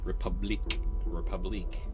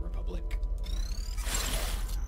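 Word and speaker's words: République: And now we know that I've been saying the name of the game wrong. It's Republique, not Republic.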